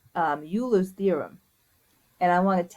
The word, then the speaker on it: Euler: start doing is talking about a theorem called Euler's theorem and I want to tell you what it is first oh it's sorry it's not pronounced you lose it's pronounced eulers eulers so this is Euler's